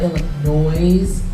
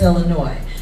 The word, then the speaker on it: Illinois: And yes, we don't pronounce the S on Illinois. It's not Illinois, right, everybody? It's Illinois.